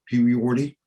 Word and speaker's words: Puyorty: John, I pronounce mine with 4 syllables, not 3, Puyorty, because it's culturally and it's academically correct.